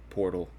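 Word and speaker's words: Portale: Private portal. Private portal. Yeah, but it's spelled Porta with a little thingy over it, LE. And the E is silent.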